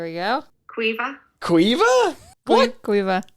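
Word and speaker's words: Caoimhe: Island yeah all right next one is c-a-o-i-m-h-e kyom that's not even close okay here we go Cueva Cueva what Quiva Quiva next one is g-r-a-i-n-n-e Granny or grainya grania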